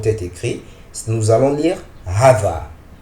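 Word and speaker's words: هذا: nous allons étudier Hava Hava est prononcé Hava h mais est écrit sans le premier Alif c'est-à-dire si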